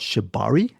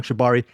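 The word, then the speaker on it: shibari: And there's also a really intense Japanese thing called I think it's called Shabari. S H I B S H I B A R I. I could be wrong. Shabari.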